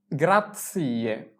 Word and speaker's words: grazie: ধন্যবাদকে বলা হয় গ্রাৎসিয়ে, গ্রাৎসিয়ে। come si scrive grazie?